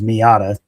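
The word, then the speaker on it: Miyata: names, but you know, his middle name is Miata. Yeah, it's not spelled like the the car, but it it's phonetically the car.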